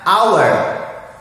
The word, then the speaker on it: hour: Oke, pertama-tama kita akan mengenal cara membaca jam, hour. Ungkapkan sekali lagi, hour. Dalam bahasa Indonesia artinya jam. Tulisannya H-O-U-R, hour. Ya, dalam bahasa Indonesia kalau bacanya dalam bahasa Indonesia hour. Tapi dalam bahasa Inggris bacanya hour.